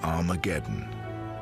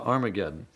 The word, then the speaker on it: Armageddon: to Harma gettin to Armageddon and indeed in some of the earliest versions of the New Testament written in Greek our mageddon has an aspirant at the beginning meaning it's pronounced with an H so it originally was